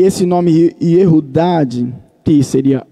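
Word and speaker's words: יהודה: Essa seria a pronúncia correta do nome Judas, Iodas. Só que em hebraico se falava Yehudad.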